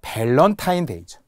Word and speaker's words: 밸런타인데이: 밸런타인 데이죠. 밸런타인 데이를라고 많이 하잖아요.